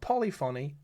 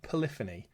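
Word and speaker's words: Polyphony: Not Polyony, Polifany.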